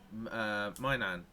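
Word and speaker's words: Maignan: Like a lot of people say, Mignan, or however you Mignon. actually Mignon. properly pronounce Mignon.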